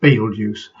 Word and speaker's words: Betelgeuse: community poll where the majority of people said pronounce it Betelgeuse.